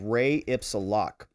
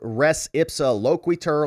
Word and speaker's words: res ipsa loquitur: There's a concept I was thinking about in the law called re ipsa loc.